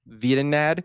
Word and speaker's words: Vedinad: So the reason I bring this up then is it's called, it's spelled VEDINAD. So Vietnad, which is backwards for Danny Dev, who is a YouTuber, I guess, that has made several games in the past.